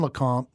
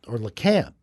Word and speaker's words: Lecompte: There's not much in LeCompte, or LeCamp, actually, is how they say it there. Really? Yeah, it's LeCamp.